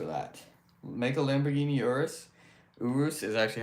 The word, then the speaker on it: Urus: Urus is actually how you pronounce it, by the way, for anyone who doesn't know. For some reason, a lot most people call a Urus, but it's actually called Urus water.